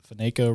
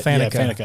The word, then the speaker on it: Faneca: Actually, one thing that's pretty cool is Alan, I can't remember, pronounces that, Faneca, but he was a guard for the Steelers for a long time. He's Faneca. Faneca, yeah.